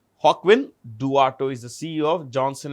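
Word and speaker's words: Joaquin Duato: This is pronounced with a J. Hawkwin Dato is the CEO of Johnson and Johnson.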